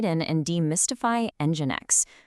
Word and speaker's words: NGINX: So first things first, it's pronounced NGINX.